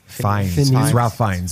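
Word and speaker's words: Ralph Fiennes: would say uh the cast is Ralph fin Ralph fines is how you pronounce that it's not Phineas it's F it's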